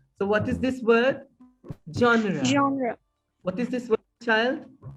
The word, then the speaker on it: genre: pronunciation of these words because this is french denied word it has a provenance of french that's why we have to pronounce it as genre or genre it means kind of